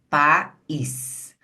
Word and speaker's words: país: Você vai ver que realmente existem dois movimentos. Isso significa que o i é pronunciado. Pera aí que a canetinha soltou. Vocês vão perceber que o i é pronunciado, não é? separadamente do a, porque ele forma um movimento da boca.